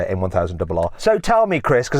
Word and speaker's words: M1000RR: Okay, so that's how you say it, M1000RR.